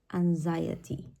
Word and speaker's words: anxiety: Even though there is an X also on the adjective, the pronunciation of both words, or the X in both words, is going to be different. Anxiety, anxious. Okay, now we are already